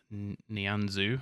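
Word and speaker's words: Nianzou: And Nianzu, who I bought, that's how you pronounce it, is unfortunately got himself sent off in the last game.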